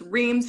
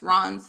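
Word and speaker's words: Reims: Ron which is the which we pronounce as re in the US they it's Reams here and it's Ron there um so they took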